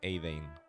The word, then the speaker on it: Eidein: O sea, se dice Eidein, ¿vale?